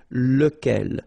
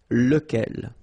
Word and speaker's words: lequel: Okay, so remember, you've got to pronounce it lequel, even if you've got this QU. Okay, remember that this U phonetically doesn't exist, so lequel.